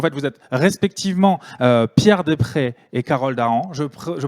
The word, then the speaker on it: Deprez: Donc, en fait, vous êtes respectivement Pierre Després et Carole Daran. Je prononce bien, Pierre ?